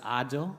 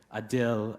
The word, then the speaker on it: Adil: heritage for years when people couldn't pronounce my name which is odd Oh which means just in Arabic I accepted what they could say I dill a deal dill pickle and I even changed